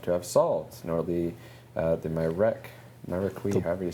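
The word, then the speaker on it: Myreque: I used to think it was Myrique when I was young. We just did the pronunciation video, I forget already. It's named after the maquis from French history, that resistance movement, named partly to sound like maquis, and also, so you've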